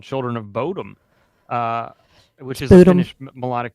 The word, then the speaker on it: Bodom: It is Lake Bodom. Really Bodom. It is. So I wrote it down. So I wrote boo and dumb. Bodom.